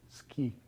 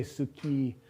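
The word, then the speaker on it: 好き: word for like uh and it's pronounced ki ski so the uh isn't for you can't you don't say suki unless you're being very slow and careful and it's still a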